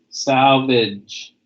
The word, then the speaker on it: salvage: back okay good Salvage Salvage say that with me Salvage remember you have the GE sound and it has the J sound Salvage jint okay alright